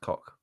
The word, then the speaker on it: Koch: Mike, have you still got that rather lovely cock amp though? Koch. it's pronounced cock.